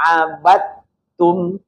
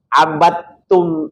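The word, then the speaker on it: عَبَدتُّمْ: wala Ana abidum Ma abadum ini juga perlu perhatian nih ini banyak yang membaca abadum itu masih ada unsur dalnya ya unsur dalnya itu harus sirna sama sekali karena pertemuan antara dua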